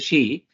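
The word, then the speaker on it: Xi: Look at Mr. G or Mr. Shei as you pronounce the president of China for that matter Nanahu the president or the head of Israel, Mr.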